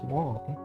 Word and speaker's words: Wang: w g and then everyone pronounce it as Wang when you think about it it's like yeah that makes sense like in Chinese people don't say they don't pronounce it like w just like it's it's Wong so uh your message